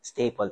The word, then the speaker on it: STAPPL: Uh first is could you please introduce yourself and your role sa how how do you pronounce it? Staple. Staple po.